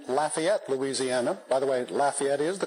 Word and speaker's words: Lafayette: By the way, Lafayette is the correct pronunciation of that word in the town near where he grew up.